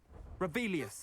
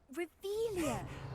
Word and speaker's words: Revelio: Revelius. Saying it wrong. Ugh, Revelia. Much better.